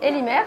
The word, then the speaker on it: Lhimer: Alors Instagram c'est Elimer, donc L-H-I-M-E-R, comme ça se prononce.